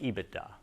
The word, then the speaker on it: EBITDA: to know this term it's usually pronounced ebitda it's likely that everyone